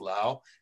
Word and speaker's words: Laos: People say Laos, but I believe it's pronounced Laos.